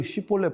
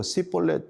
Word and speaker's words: 쉬볼렛: 그럼 너 쉬볼렛 발음해 봐. 그럼 쉬볼렛이라고 발음이 안 되고 시볼렛 이렇게 뭐 발음을 했거니 하니까 안 되는 것이죠.